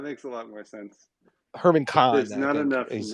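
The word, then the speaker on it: Herman Kahn: guy okay that makes a lot more sense Herman Khan is how you pronounce it um yeah but Michael Hudson Michael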